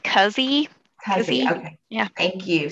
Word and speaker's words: Keesee: Keesee. I hope I'm saying that right. Is it Keys or Keesee? Did I get it right? It's actually pronounced Cuzzy.